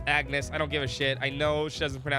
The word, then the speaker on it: Agnes: It's Agnes. I don't give a I know she doesn't pronounce the G.